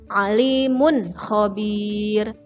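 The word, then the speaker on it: عليم خبير: Contoh, alimun khabir. Alimun khabir. Perhatikan, tidak didengung, tidak dipantulkan, atau tidak memasukkan ke huruf kho. Jadi bacanya jelas.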